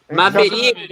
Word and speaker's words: Maverick: Maverick, rapaz.